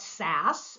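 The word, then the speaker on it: SaaS: so s a a people call it sass so you can pronounce that like sassy but s um software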